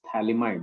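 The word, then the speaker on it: phthalimide: famous compound that is known as thalamide in which pH is silent so this is okay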